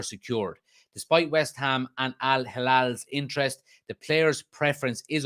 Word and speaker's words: Al Hilal: Saudi side Al Hilal, I think that's how you pronounce it, Al Hilal, extended an attractive offer, but Amrabat's affinity for